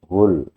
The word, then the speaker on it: whole: Hul bacanya bukan lubang ya. H ada W-nya kalau enggak kelihatan W ya. Enggak terdengar W-nya enggak terdengar tapi dia full.